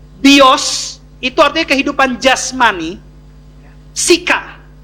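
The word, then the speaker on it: psyche: Psika. Psika itu tulisannya P-S-Y-C-H-E. Tapi dibacanya akhirannya A, intonansinya A, walaupun alfabetnya E. Bacanya psika.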